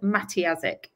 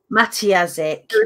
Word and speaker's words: Matyjasik: So the pronunciation is Matyjasik. Matyjasik. Matty and then Azik, silent J.